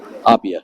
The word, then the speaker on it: Appia: really four yeah yeah and how do you pronounce it it AIA Opia M yep yep and gato is the coachwork